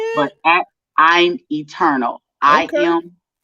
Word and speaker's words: Eturnul: you could see my name there at i'm eternal eternal is spelled e-t-u-r-n-u-l if you guys are wondering why